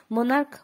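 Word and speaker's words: monarch: এবার তৃতীয় নিয়ম, কিন্তু যখন সিএইচ এর উচ্চারণ অর্থাৎ চ এর উচ্চারণ কিন্তু আমরা কর মতো দেখছি তখন কিন্তু নাউনটির শেষে শুধুমাত্র এস যোগ করতে হবে। যেমন মোনার্ক মোনার্কস, স্টমাক স্টমাক্স। এখানে সিএইচ চ কিন্তু হয়নি, এখানে ক হয়েছে।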